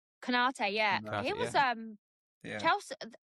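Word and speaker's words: Konaté: Is that how you pronounce his name? Konate, yeah.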